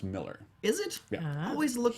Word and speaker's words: Millar: but it's Mark it's Miller. Miller. Right. He's like, no, that's the way. It's the British pronunciation of the A.